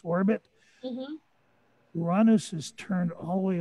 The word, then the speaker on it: Uranus: that's kind of odd and that's the planet uranus which is the correct pronunciation not that other one that all the kids like to use the planet is called uranus it's named after the father of the titans